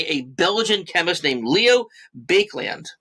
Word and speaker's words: Baekeland: Okay, now plastics themselves were first discovered in 1907 by a Belgian chemist named Leo Baekeland. I think that's how you pronounce it, B-A-E-K-E, Baekeland. We'll go with that, Baekeland.